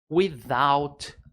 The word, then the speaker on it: without: He goes across the road without a word. Repete aí, é difícil a pronúncia por causa do TH.